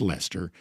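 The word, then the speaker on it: Leicester: I've been given the green light from Jay Black that I a got the pronunciation right. It is Lester.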